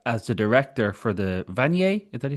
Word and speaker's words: Vanier: Well, speaking of important work, since 2021, you served as the director for the Vanet, is that you say Vanet? Yes, Van College. Vanier College.